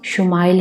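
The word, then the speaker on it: ישמעאל: خوشخبری سنا دی گئی۔ عبرانی زبان میں اسماعیل کا تلفظ شمائل ہے۔ شما کے معنی ہیں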